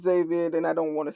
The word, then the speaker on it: D4VD: His name is, I think it's pronounced David. Zaby.